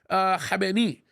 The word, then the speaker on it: Khamenei: its current supreme leader, Ayatollah Ali Khamenei. Okay, that's actually how you would actually pronounce it. I still always say Khomeini.